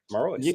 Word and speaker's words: Marois: Marois.